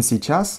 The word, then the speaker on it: сейчас: So, сейчас урок. In сейчас, the emphasis falls on a, and in урок on o.